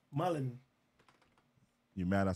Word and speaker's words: Mullen: Oh, Danny Mulligan? Mullen. You mad I said his name wrong?